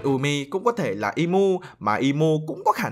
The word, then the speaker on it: Imu: thì nó như vậy còn đúng tiếng Nhật thì imu nếu lật ngược trở lại sẽ đọc là movie chứ không phải là umy nhá Dẫu sao thì